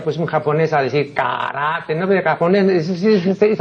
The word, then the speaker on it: karate: Aquí yo más de una vez he dicho que la pronunciación de lo que aquí equivocadamente pronuncian karate no es karate, sino karate.